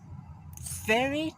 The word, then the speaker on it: very: When you pronounce V, your mouth is a little bit open. Not round, not like that. Very, not like that. It's wrong. It's right. You have to pronounce very, very, very.